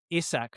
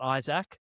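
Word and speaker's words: Isack: That said, speaking of Red Bull in P8 was um was their very own Isach by the way, Isach Haj, not Isaac. We've been pronouncing that wrong the whole time.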